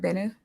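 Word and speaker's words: Bennu: is is it am I saying it right benu yeah benu is the one that we that the video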